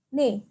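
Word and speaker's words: 네: buat garis satu lagi Ini bacanya adalah nih oke Ya mungkin aku tuliskan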